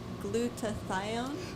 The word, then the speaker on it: glutathione: that you pronounced is supposed to be glutathione glutathione thank you barb